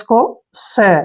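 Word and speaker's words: chaos: clear next word देखिए सी एच ए ओ एस देखिए सी एच का उच्चारण यहां पर चय नहीं करना है जब भी सी एच के बाद ए ओ आते हैं तो सी एच का उच्चारण हम क करते हैं क्या करते हैं क और देखिए यहां पर ए ओ को हम ओ और ए पढ़ेंगे ठीक है और एस को स यानी कोस क्या पढ़ेंगे इसको कोस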